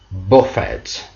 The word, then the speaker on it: buffet: perfected the old shark when it becomes a noun the pronunciation changes buffett which means it's the french word for solster food bar for